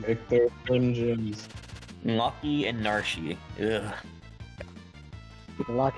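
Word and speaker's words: Narshe: Yeah, Narsh. It rhymes with Marsh.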